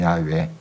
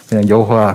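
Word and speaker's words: Yahweh: 명 이름이 야외 예 정확한 발음은 야외 우리가 이제 걸 알면서도 아 그동안 이제 쪽 성장이 영어와 이렇게 돼 있으니까 여호와 그렇게 지금 기록을 내는 겁니다 그 뜬 본 발음이 야외 다 하는 거예요 자 이만큼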